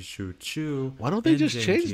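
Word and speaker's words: Xu Chu: Warriors are also misspelled two prominent examples are shuju which would more accurately be Shu Chu why don't they just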